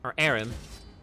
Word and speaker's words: Aram: All right, so now we got Aram. And again, until he corrects me, the way he pronounced it was Aram, so it's Aram.